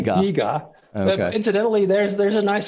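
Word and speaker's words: DiGA: of it the Deo the de if I'm pronouncing correctly we we say dega incidentally there's there's a nice story behind that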